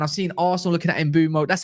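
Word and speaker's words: Mbeumo: And I know we're looking at Mbuemo, and I've seen Arsenal looking at Mbuemo.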